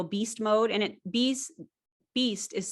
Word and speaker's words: Bies: at the real beast mode and it b's beast is spelled like my last name b-i-e-s it's not